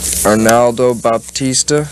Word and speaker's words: Arnaldo Baptista: Arnaldo Baptista. Is that how you pronounce his name?